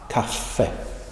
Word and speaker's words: kaffe: You pronounce it with a very short kaffe.